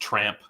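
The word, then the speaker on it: Трамп: Yeah, in Ukrainian, Trump is pronounced tramp because they don't have a short U sound in Ukrainian, so it's tramp.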